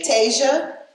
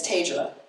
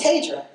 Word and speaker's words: Tedra: scout when my grandfather who would often miss miss say my name he would say Tasia my name is tedra he would say Tasia